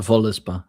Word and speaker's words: Völuspá: The Voluspa, yeah.